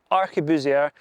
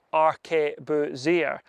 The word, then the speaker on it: arquebusier: Arquebusier is pronounced as arquebusier or arquebusier in a more French style.